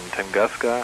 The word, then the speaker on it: Tunguska: In Tunguska, I think it's pronounced.